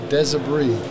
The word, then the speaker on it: Desabris: deser say that again deser deser the S is silent yes silly me FR